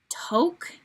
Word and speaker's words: Taupe: Taupe, that's how you pronounce it.